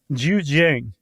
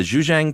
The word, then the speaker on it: Zhejiang: Uh, these caves in China, uh, specifically the, uh, How would you pronounce that, Josh? The province? Yeah. Zhejiang. The Zhejiang province in China, um, where in the early